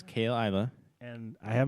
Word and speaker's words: Caol Ila: It's just Isla. This is Isla? not Isla, yeah. Not Ila, Isla. Yeah, Caol. Caol Ila.